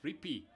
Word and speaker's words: Rippey: And thank you for the clarification. It's pronounced Rippey.